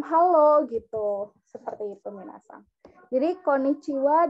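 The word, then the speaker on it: こんにちは: gitu seperti itu jadi Konnichiwa dan conbanwa hanya dibaca Wayah konichiwa itu Selamat siang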